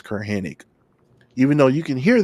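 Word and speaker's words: Curt Hennig: You can hear it very clearly the way he pronounces it, Kurt Hennig.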